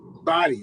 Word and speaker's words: Body: Andrew, how you pronounce the last name? Body.